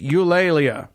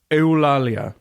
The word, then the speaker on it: Eulalia: Eulalia or la Lea or however you want to say it how do you spell it EU la laa la yeah yeah you lately you lately sure why